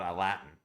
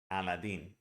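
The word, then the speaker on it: Aladdin: is kind of easy if you think of a Latin when I think about a carpet I think about a Latin and that's the way we pronounce it I know it's weird but no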